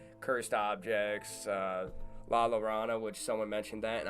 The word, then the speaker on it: La Llorona: But yeah, I probably butchered La Llorona, the name of it. I thought it was La Llorona. Yes, I think it's La Llorona. Like Corona.